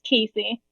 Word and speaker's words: Casey: Cassie, I hope I pronounced your name correctly. You're being promoted to panelist. Yes, it's Casey.